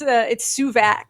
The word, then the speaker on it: Suvak: It's Suvak. Suvak, like okay. a heavy vac, like a vacuum.